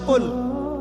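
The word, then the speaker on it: قُل: যেমন কফ দিয়ে একটা শব্দ আছে কুল।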